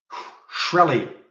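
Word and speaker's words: Shkreli: up but look who started this company martin shreli that's how you pronounce his name not that he's got probably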